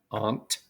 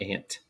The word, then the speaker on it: aunt: when you're doing it pronounce this one as Aunt not ant we don't have anything that rhymes with ant but we do have something that rhymes with Aunt like that is my